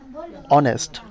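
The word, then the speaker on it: honest: এইচ আছে বাট এইচ কিন্তু উচ্চারণ হচ্ছে না। সাউন্ড কি হচ্ছে? অনেস্ট।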